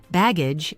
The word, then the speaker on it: baggage: Baggage is baggage, with stress on the first syllable.